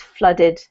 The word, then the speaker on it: flooded: flooded flooded flooded yeah I know it looks like a double O and it looks like it should be flu or something but it's not it's more like a u sound um so it's flooded this one here is